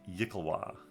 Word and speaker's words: yklwa: I believe it's pronounced Yikalwa.